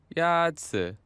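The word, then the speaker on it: 鸭子: 鸭子 Is pronounced with a first tone. In Mandarin, there are 4 tones, which are essential to distinguish the meaning of words. The first tone is a high, level tone.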